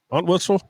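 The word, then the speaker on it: Entwistle: Aunt Whistle.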